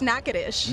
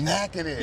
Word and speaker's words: Natchitoches: Natchidus. That's actually very close. It's Natchitoches. Natchitoches. Yeah, which it's not spelt that way at all. It's not. That's it's the not. thing. Like, they spell it to confuse you. It almost say no Cheetos.